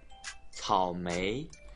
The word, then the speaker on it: 草莓: 草莓，草莓，草莓，草莓，草莓，草莓。한국 사람들이 제일 못하는 발음, 草莓，삼성 이성 발음입니다.